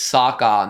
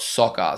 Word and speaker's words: Sokka: People have said that it's Saka, not soccer.